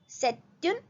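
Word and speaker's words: c'est une: सेट्युन मेजो. T pronounce होगा क्योंकि आगे वाले जो वर्ड है वो वॉवल से स्टार्ट हो रहा है.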